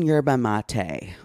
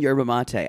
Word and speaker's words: yerba mate: saying and I finally you mean yerba mate I laughed oh my God y'all it's built m-a-t-e that's mate yerba mate um you know words